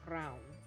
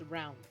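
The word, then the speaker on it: Rán: correct pronunciations and it's it's a rolling R and the a sounds like o u so round so it's round without the D and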